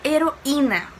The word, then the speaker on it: heroína: por exemplo, a palavra heroína. Vamos ver a palavra heroína, vamos separar as sílabas dela. Heroína. O I está sozinho e é a sílaba tônica, então vai receber acento sim.